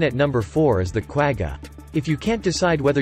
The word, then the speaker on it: quagga: to Marvel at and if you're wondering it's pronounced KW a g ha try saying that three times fast taking bronze